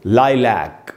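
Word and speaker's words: lilac: उसके बाद दोस्तों लाइलैक या लाइलक, दो उच्चारण है इसके, ये एक फूल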